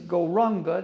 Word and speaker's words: Gauranga: So, the mantra is Gauranga, divided into 4 syllables, Go-Ra-Anga.